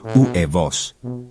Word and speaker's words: huevos: Notice, H is silent in huevos, so it's pronounced huevos.